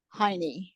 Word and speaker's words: Hajny: And then his wife's name was Barbara Heine, and I think it's spelled Hajny.